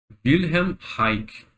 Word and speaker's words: Wilhelm Reich: Vamos ver se eu consigo pronunciar aqui. Wilhelm Reich.